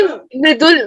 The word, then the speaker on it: मृदुल: मैं बोल रही कि मृदुल, मृदुल ही प्रोनाउंसिएशन है मेरे नाम का।